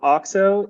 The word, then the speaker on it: Auxo: So Auxo is the Greek of essentially fertility and growth. And the goal of us at Auxo Partners is basically to take the finance skills